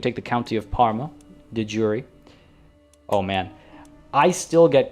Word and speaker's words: de jure: But that is how you say it. It is not de jure. I used to think so as well, but there is no French there. This phrase went directly from Latin into English.